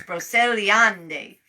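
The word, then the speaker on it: Brocéliande: roseliande i'm going to pretend i'm italian it's brocelliand spelled v-r-o-c-e-l-i-a-n-d-e um braceliande i suppose you should be able to say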